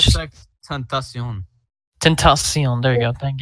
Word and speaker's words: XXXTENTACION: Yeah, it's just XXXTENTACION.